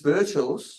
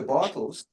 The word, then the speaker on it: Birchall: pronounce her name, because it's Birchall's. Some people call her Bartels, and she's actually spelled it out here phonetically, Birtels. So it's Birchall's.